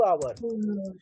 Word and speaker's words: hour: फॉर 2 आवर। 2 hours. आवर्स नहीं, आवर पढ़ना सीखे, गलत प्रोनाउंसिएशन नहीं। एच आपका यहाँ पे साइलेंट है। आवर्स, OUR आवर पढ़ते हैं, वही आवर।